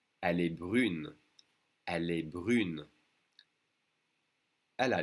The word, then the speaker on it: brune: Now we separate the U and the N, and we do pronounce the N. Elle est brune.